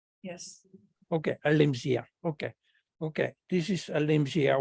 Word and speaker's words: Elimsia: I repeat, Elimsia. That's correct? Yes. Okay, Elimsia.